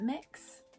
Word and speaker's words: Mx: that existed so yeah mux is a thing um some people pronounce it mix i i prefer mux is because it's mx and it just sounds i don't know if i'm